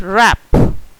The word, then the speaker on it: wrap: Next wrap. Again W is silent.